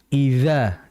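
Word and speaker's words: إِذَا: Hati-hati jangan dibaca id bukan melainkan idza dza yaitu huruf dzal. Apa? Ujung lidah diapit sedikit. Jangan terlalu banyak ya. Jangan ke tengah lidah. Ujungnya saja dengan gigi seri bagian atas itu ya.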